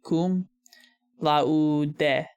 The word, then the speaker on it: cum laude: So, the U in Latin would be pronounced U, and of course, you pronounce like every vowel. So it'd be cum laude.